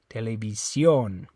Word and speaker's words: televisión: That the stress is on that O. Okay. Televisión. Okay.